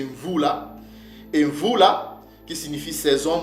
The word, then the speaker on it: Mvula: Donc ce mot-là ne se prononce pas Moed, mais c'est Mvula.